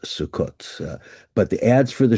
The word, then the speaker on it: Sukkot: The season customarily opened at the beginning of the autumn harvest festival of Sukkot, which these days in modern Hebrew is pronounced Sukkot.